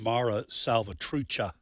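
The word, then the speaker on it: Mara Salvatrucha: Uh by the way, I I mispronounced the the name. It's Mara Salvatucha.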